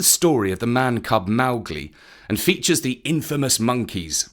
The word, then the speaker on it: Mowgli: It is pronounced Mowgli, accent on the Mao, which rhymes with cow. So that is why we're pronouncing his name Mowgli, just as Kipling instructed.